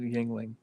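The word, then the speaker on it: Yuengling: start spelling stuff yeah and i think they pronounce it yingling and speaking of that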